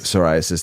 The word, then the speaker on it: psoriasis: until I got to those last two psoriasis psoriasis thank you and vas clus vas vasus vas glus I think it's pronounced v c u l i t i